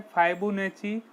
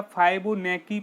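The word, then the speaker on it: Fibonacci: इसका सही आंसर है फाइबोनैची। फाइबोनैची या फाइबोनैकी पढ़ते हैं, या कुछ लोग फाइबोनैसी भी इसको पढ़ते हैं।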